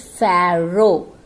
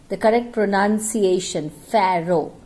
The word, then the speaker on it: Pharaoh: It is Pharaoh. Once again, the correct pronunciation, Pharaoh means king. Pharaoh.